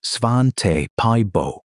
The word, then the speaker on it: Svante Pääbo: In 2010, a team led by the Swedish geneticist Svante Pääbo, pronounced Svan-te Pie-bo, at the Max Planck Institute in Leipzig, published the first draft of the Neanderthal genome.